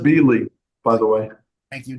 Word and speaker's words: Bieley: It's And pronounced Bieley, by the way.